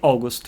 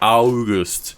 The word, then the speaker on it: August: been called august but we pronounced like auguste yeah many people august yeah in katang catania people call me augus without yes so how